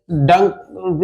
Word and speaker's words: Danke: जैसे डंक it mean thanks, तो जर्मन लोग प्रोनाउंस करते हैं थैंक यू को डंकू, डंकू, डंकू। थैंक यू को हम लोग प्रोनाउंस करते हैं थैंक यू, थैंक यू, थैंक यू, डी ना कि टी, DANKE, डंकू, थैंक यू, थैंक यू।